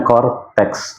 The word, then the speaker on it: Coretax: Jadi Cortex itu tulisannya gini, CORETAX ya. Oke. Jadi bacanya Cortex.